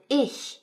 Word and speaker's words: ich: But the 'ch' also has a soft sound such as what we hear in the word 'ich', meaning I. So it's kind of like the English words, hhhuge or hhhumid if you really emphasize the start of them.